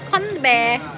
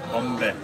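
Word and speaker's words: 건배: Konbe. Konbe. Konbe. Konbe. Konbe. I don't know Chinese. Chinese. But Konbe. Korean pronunciation is Konbe.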